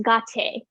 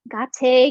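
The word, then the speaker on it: गते: But it's pronounced gah-tay, gah-tay, gah-tay.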